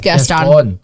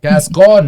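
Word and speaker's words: Gascón: It's Gaston. Gascon. There's an accent on the O.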